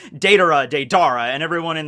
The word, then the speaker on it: Deidara: watching it like the original um and they pronounced it data as well i still kept pronouncing it deidara i don't know why this is one of